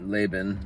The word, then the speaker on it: Laban: I just say Laban. Could be Laban, but Laban is how we pronounce it here.